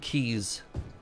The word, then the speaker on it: quays: is the tree stream trees and keys spelled very differently but they rhyme I'm getting further and